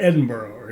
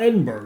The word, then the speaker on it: Edinburgh: him say London to Edinburgh he didn't say Edinburgh he didn't say Edinburgh so we'll go to Edinburgh it's not Edinburgh it's Edinburgh okay and by the